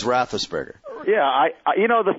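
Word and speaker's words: Roethlisberger: rothberg and I won I know I say that name wrong all the time but big yeah I forward you some of the emails yeah I my defense was that you were just tired and you didn't feel like saying all the syllables but you knew it was rosberger yeah I you know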